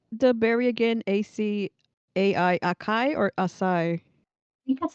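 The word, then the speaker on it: açaí: Apparently in Jolly Good England they say acai. So emphasis on the first syllable, whereas in American English is emphasis on the last syllable, which makes sense, I guess.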